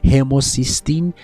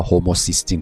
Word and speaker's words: هوموسیستین: فولاد در هر و هموسیستین افزایش پیدا می‌کنه. حالا هوموسیستین تلفظ درست‌ترش هستش اما در کمبود ویتامین